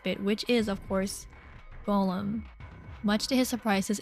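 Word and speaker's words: GOLM: which is of course Golem much to his surprises ends up being pronounced like Golem anyways on a side note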